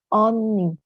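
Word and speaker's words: 언니: buku Misalnya romanisasi nya romanisasi nya adalah eonni seperti itu nanti Bacanya adalah Oni Oni ini dipakai dari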